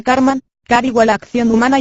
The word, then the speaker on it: karman: y hasta satánicas a karma en sánscrito se pronuncia karman kariwa la acción humana